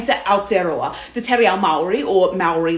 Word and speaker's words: Aotearoa: their parliament for consideration basically many feel that aotearoa which is more correctly pronounced better represents the country's history and would